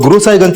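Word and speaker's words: गुरसहायगंज: गुरु साईंज सर गुरु साहिबगंज को वहां के लोकल लोग गुरुसाहिगंज प्रोनाउंस करते हैं।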